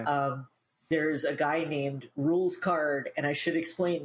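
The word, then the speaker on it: Rouxls Kaard: there's a guy named rules card and i should explain this name is spelled r-o-u-x-l-s k-a-a-r-d so it does not look like it sounds but that's because it's like french as well as we'll find out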